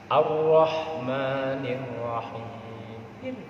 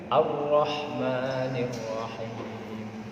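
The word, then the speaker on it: الرحمن الرحيم: Ar-Rahmanir Rahim. Wah, kalau dikembang itu Ar-Rahmanir sampai begitu. Karena untuk menipiskan. Ar-Rahmanir Rahim.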